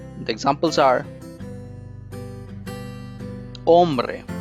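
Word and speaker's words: hombre: silent the examples are ombre it's man says it is spelled as h-o-m-b-r-e but h is silent so the pronunciation is ombre great yellow ice again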